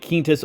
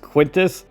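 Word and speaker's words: Quintus: I want to get kinus or Lord Loki first actually somebody just made a comment in my video the other day that he is pronounced quintis and not kinus and I think that's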